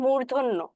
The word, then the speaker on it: মূর্ধন্য: মূর্ধ মূর্ধ ব্যাপারটা আছে আমরা কিন্তু অনেকেই হচ্ছে মূর্ধন্য সেটাকে আমরা বলি হচ্ছে মূর্ধন্য মূর্ধন্য বহুত কিছু বলি তাই না এটার কিন্তু সঠিক উচ্চারণ হচ্ছে মূর্ধন্য মূর্ধন্য কেন কারণ এই যে বললাম এটা হচ্ছে মূর্ধা থেকে উচ্চারিত হয় ওখান থেকেই আসছে হচ্ছে